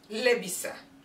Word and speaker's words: labisa: From the verb labisa. Rhymes with fa'ila.